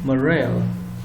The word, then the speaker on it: morale: oneself or others and when we pronounce this word it is accented on the second syllable so we have to